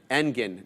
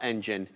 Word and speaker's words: Engin: Okay, it's a second pronunciation. Engin, not engine.